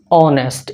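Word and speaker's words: honest: तो यहाँ पे इसका प्रोनाउंसिएशन क्या होगा, ऑनेस्ट। यहाँ पे एच जो होता है साइलेंट होता है, जब एच साइलेंट होता है तो उसका उच्चारण औ से शुरू होता है।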